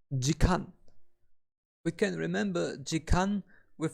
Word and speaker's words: 時間: we get an hour we pronounced an hour as deacon we can remember chicken